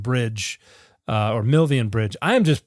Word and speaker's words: Milvian: Uh because the there's there's the famous legend of the uh the battle of uh of uh Milvin Bridge uh or Milvian Bridge. I am just pronouncing everything wrong today.